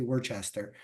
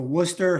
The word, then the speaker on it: Worcester: regular nutritious diet congratulations Worcester here to accept the award is Alex corales CEO of the Worcester Housing Authority I'm making sure I don't say Worchester the Worcester Housing Authority uh Mr cares